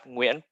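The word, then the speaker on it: Nguyen: pronounced it is it gwen how do you when is actually family name and over half of vietnamese people have win family name because there's some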